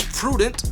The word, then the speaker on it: prudent: And the fourth word is prudent. It's an adjective, and prude is the stressed syllable.